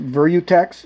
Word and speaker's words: Virutex: that long it's made by I think it's pronounced virutex v i r uex and I haven't used